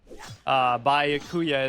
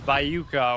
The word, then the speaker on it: Byakuya: Byakuya is Bayuka, or Chihiro is Chirio, or who else?